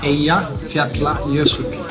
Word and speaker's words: Eyjafjallajökull: Okay, now how do you say the mountain that's easy for to pronounce? Eyjafjallajökull. Eyjafjallajökull.